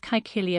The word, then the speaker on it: Caecilia: monument, the tomb of Caecilia Metella. And a little aside here, especially for audiobook listeners, that's a historic pronunciation of Latin using the hard C in the middle of Caecilia.